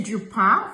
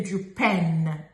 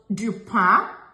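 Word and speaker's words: du pain: for example we say jupa for bre we don't say jupen we don't pronounce the letter n it's it's we don't even pronounce it that way it's nazal so jupa is what we say we Don't say dupen or dupan.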